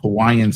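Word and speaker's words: Cauayan: And the province I live in is called Isabella and called Kauan City. It's spelled like you would hear Kauaii, but it's spelled with a C, not K.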